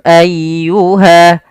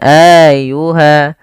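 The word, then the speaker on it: أيها: dan tidak ditahan sanafrakum ayyuha ayyuha tekan di lafal ynya jangan ayyuha jangan Ayuha atau juga memanjangkan a-nya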